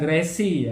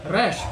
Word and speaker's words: resh: Terus Resh. resh. Bukan resi ya. Resh. Resh. Resh.